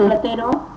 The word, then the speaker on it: Platero: Catero. ¿Está bien pronunciado tu nombre? Sí. Platero.